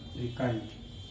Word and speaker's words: श्रीकंठ: श्रीकंठ, English में दोस्तों श्रिंग जी होता है यहाँ पे, तो श्रिंग जी यहाँ पर माना जाता है इसको साइलेंट।